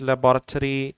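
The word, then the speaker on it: laboratory: स्केड्यूल और शेड्यूल, management, leadership, questionnaire, statistic, percentage, लेबोरेटरी, school, university and college.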